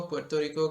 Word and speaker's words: Puerto Rico: which is the capital city of Puerto Rico Puerto Rico this is the proper pronunciation country actually in the Caribbean I think